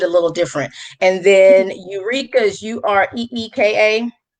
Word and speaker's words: Ureeka: And then the third one is Eureka, and that's spelled Ureeka.